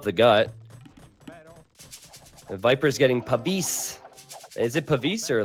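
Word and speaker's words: Pavise: The Viper's getting Pavis. Is it Pavis or like? I think that's right. I don't know the exact pronunciation. No, you but- gotta say it like an Italian would. Pavisse!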